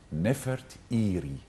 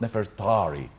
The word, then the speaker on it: Nefertari: for his beloved wife, Nefertiri, not Nefertari. There is no A in the name of this lady. We are pronouncing her name wrongly.